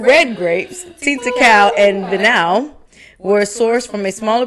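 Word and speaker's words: Vinhão: I'm going to assume that H is silent. Vinau.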